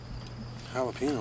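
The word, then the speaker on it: jalapeño: Jalapeno? What flavor's that? Ricky, the J's silent. I'm saying it wrong. The J's like an H, Ricky.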